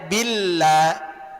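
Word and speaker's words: بالله: Janganubill bil, jangan diberatkan. Ringan aja. Billah billah. Ringan aja jangan diperberat karena dia tarqiq.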